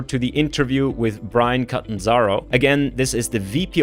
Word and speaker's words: Catanzaro: It's an Italian name. Catanzaro. So you just pronounce it very like Latinate, Yeah, so I wanted